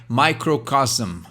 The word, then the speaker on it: microcosm: SM no final. Então duas consoantes juntas. Microcosm a gente tem que pronunciar até o M, assim, tem que forçar mesmo esse hum no final, né?